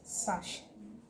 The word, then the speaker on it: sachet: The second word here is sachet. Sachet. So you say a sachet of water, a sachet of milk, okay, and not sachet. The T is not heard in this word, okay, so you shouldn't try